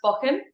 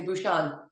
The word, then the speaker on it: Buchan: is so that's right it's actually pronounced ban okay but when I am competing everyone calls me bushan go so I could